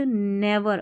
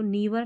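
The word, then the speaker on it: never: we should नेवर, अब इसको नीवर नहीं, नेवर, वी हमें चाहिए कि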